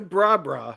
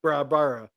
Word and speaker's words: Brabra: Afterwards, she changed her name to Brabra instead of Brabara Watt. That's really it's almost impossible to say that the way it's spelled. Yeah. Brabara. I feel like Baba Watt. Brabra, please, Brabra. It's Brabra.